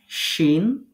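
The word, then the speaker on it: ش: যেখানে এগুলো লেখা থাকবে তো জিম শিন এবং ইয়া তাহলে তিনটা হরফ জিহ্বার মাঝখান থেকে তার বরাবর উপরের তালুর সাথে লাগিয়ে শক্ত করে উচ্চারণ করতে হবে এই কথাটা সুন্দর করে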